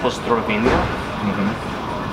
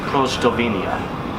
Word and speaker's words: Pozdrowienia: And so for Polish, the word I used was the more formal, I guess, Pozdrowienia. But the way I pronounced it was Prozdrowienia.